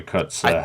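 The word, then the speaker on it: Kotsur: But for right now, I would say Troy Kotzer has it locked.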